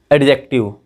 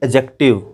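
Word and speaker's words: adjective: मेरे साथ साथ बोलिए एडजेक्टिव, ये गलत है, बिल्कुल गलत है, ठीक। ये ए और जी के बीच का जो डी है ना, ये बच्चे साइलेंट रहता है, इसको पढ़ते हैं एडजेक्टिव।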